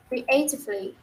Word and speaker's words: creatively: And then có hai chữ mà chị cần phải để ý tới cái phát âm là chữ creatively. Nó sẽ giống như chữ A á chị, creatively, creatively.